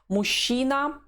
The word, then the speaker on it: мужчина: Мужчина. A man. You read it not мужчина, the way it's written, but мужчина. This is the usual Russian pronunciation of the word.